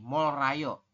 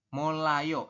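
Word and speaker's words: 몰라요: Tetapi menurut aturan baca di poin nomor 5, kalau ada real di akhir, ketemu dengan real lagi di sampingnya, maka keduanya dibaca L. Oke? Jadi keduanya itu dibacanya L. Kayak gini. Jadi dibacanya gimana? Menjadi molayo, seperti itu, Yorobun.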